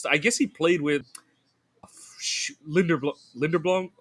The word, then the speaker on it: Linderbaum: He missed all like Wirfs and I guess he played with Linderblom. How do you say the center's name? Linderbaum, yeah, Yeah.